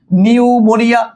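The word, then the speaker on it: pneumonia: হয় এটাই 100% কারেক্ট, কিন্তু তুমি কি জানো নিউমোনিয়া বানানটা হচ্ছে এরকমটার, প্রথমে একটা পি আসে, এরপর হচ্ছে এই দেখো নিউ, এরপর হচ্ছে মো, এরপর হচ্ছে নিয়া, হ্যাঁ, নিয়া, যেটা আমরা পড়ার সময় পড়ি এভাবে করে পিনিউমোনিয়া।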